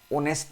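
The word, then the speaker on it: honest: एन ऑनेस्ट मैन, एन ऑनेस्ट मैन, क्योंकि जानते हो ऑनेस्ट को जब आप प्रोनाउंस करेंगे तो आप ये लिखेंगे ऑनेस्ट।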